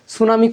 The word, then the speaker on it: সুনামি: এখান থেকে কিন্তু আরও প্রশ্ন হতে পারে, সুনামি কোন ভাষার শব্দ, এটা হচ্ছে জাপানি ভাষার শব্দ, বলে দিয়েছিলাম। সুনামি বানানটাও গুরুত্বপূর্ণ, এস দিয়ে শুরু হয় না, এটা টি দিয়ে শুরু হয়, টি সুনামি হয়।